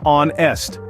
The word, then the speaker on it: honest: in the word honest the first H is silent and we pronounce it as onest not all silent letters